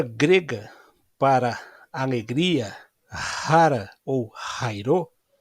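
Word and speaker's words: χαίρω: nossas traduções, em português, a palavra rara, rairô, também você pode pronunciar cara ou cairô, dependendo da gramática que você eh estuda o grego.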